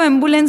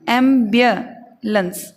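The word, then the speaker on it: ambulance: आज तक हम लोग इसको एम्बुलेंस बोलते आ रहे हैं। देखो कितना चौंकोगे आप जब इसका सही प्रोनाउंसिएशन देखोगे। इसका सही उच्चारण है एम्बियलेंस। एक साथ बोलने पर बोलेंगे एम्बुलेंस, एम्बुलेंस। ये जो जे का चिन्ह आपको दिखाई दे रहा है, ये एक्चुअल में यह है, ये यह का साउंड देता है।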